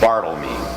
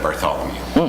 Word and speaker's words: Bartholomew: Hospital right because it it would have been pronounced Bartle me instead of Bartholomew so it'll be Bartle